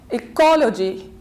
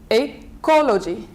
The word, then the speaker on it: ecology: two syllable three syllable so we stress on ecology ecology then the verb to contaminate